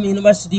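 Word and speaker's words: university: तो जब हम यूनिवर्सिटी को प्रोनाउंस करते हैं तो यू यानी या आता है, या एक व्यंजन है, इसलिए इसके पहले ए का प्रयोग किया गया।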